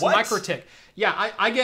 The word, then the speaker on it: MikroTik: pronouncing it right it's pronounced me critique not Mik Rohtak or it's pronounced mikrotik yeah I get I get I get corrected on how I make technical pronunciations by the way it's a Latvian company it's mikrotik boom right now now I will say some